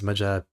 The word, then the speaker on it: Majapahit: Seen as the villain and the Malacca Sultanate's founder, I read as Majapahit as Majapahit because I pronounced H in Spanish and Filipino.